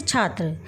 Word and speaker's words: छात्रः: जो मात्रा होती है, विसर्ग को लगाकर उच्चारण करना है। जैसे छात्र, छात्र के पीछे आपने विसर्ग लगा दिया तो क्या बन गया, ये छात्रः, ऐसे पढ़ेंगे इसको।